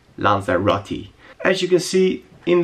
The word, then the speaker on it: Lanzarote: video check it out that's actually how you pronounce it lza Roti as you can see